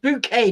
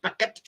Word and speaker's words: bouquet: yeah bouquet that's right it's pronounced bouquet not bucket yeah keeping up appearances